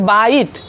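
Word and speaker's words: bite: अब यहाँ पे इसका प्रोनाउंसिएशन करेंगे BIT, बाइट। क्या हो रहा है, बाइट। यहाँ पे आई हो रहा है ना, बाइट मीन दांत से काटना, बाइट मीन दांत से काटना।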